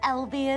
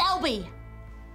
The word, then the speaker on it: Albie: Do you want to pronounce it Albie or Alb, or do we want to put like a C on the back of it so it's Albeck? It just sounds... It's Albie.